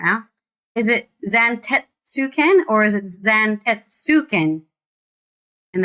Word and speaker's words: Zantetsuken: It's Zantetsuken. Tet is not how you pronounce that in Japanese. There's no... Tet is not how you pronounce that in Japanese. My lord, I trust your journey was not... Zantetsuken.